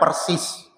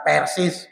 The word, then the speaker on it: Persis: Ya, ingat ya, bacanya persis, bukan persis.